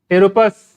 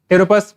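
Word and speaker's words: Pteropus: टेरोपस। I start from P एंड P silent here. टेरोपस बोलते हैं, ये सब आएगा, एनिमल किंगडम है उसमें सब आएंगे।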